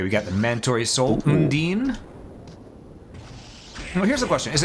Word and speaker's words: Undine: Okay, we got the Mandatory Soul, Undine. Well, here's the question. Is it Undine, Undine, or Undini? I thought it was Undyne. Like the... I assumed it was the same reason why the Undertale character was